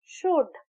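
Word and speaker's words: should: Similarly शुड एस एच ओ यू एल डी शुड इसमें भी L silent है। जब हम प्रोनाउंस करते हैं तो एस एच ओ यू डी शुड L silent है।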